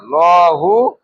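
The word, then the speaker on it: اللهُ: আবার লাহু লাহু বলবো না, কি বলবো? হ্যাঁ, একটু টান দিয়ে ল মোটা করে উচ্চারণ করব।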